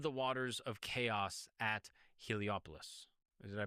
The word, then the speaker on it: Heliopolis: into existence from the waters of chaos at Heliopolis. Did I pronounce that correctly? It's pretty good, but Iliopoli.